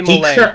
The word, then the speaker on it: Molay: And Molay is spelled exactly as it sounds. Molay.